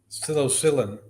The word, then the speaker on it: psilocybin: Can I ask your thoughts on Colorado legalizing psilocybin and I don't know how to even pronounce that. I want to say Psilocybin.